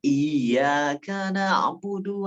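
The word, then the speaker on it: إياك نعبد: nama matahari adalah Iya harusnya kan bacanya iyakanabudu air nya pakai tasydid alhamdulillahirobbilalamin harus akan alhamdulillahirobbilalamin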